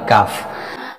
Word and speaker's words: ك: সুতরাং, জিহ্বার মূল থেকে সামান্য সামনের দিকে তালুর ঠিক উপরের অংশে স্পর্শ করে 'কাফ'-এর মাখরাজ উচ্চারণ করা হয়। এর উচ্চারণ হলো: কাফ।